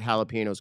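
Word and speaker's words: jalapeño: since we're correcting people it's not jalapenos jalapeno yes yes Ben jalap letar let's thank you Ben uh you're half Puerto Rican if I'm correct yes or jalapeno I just said it wrong I just said it wrong it's on top of the n and the H as a j or the J as an H we got it we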